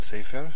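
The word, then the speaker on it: סֵפֶר: What about sefer? I think we've seen sefer. Stress on the first syllable and a segol on the second.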